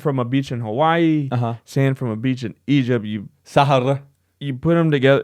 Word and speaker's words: Sahara: And how do you pronounce that? Sahara. Sahara. Sahara.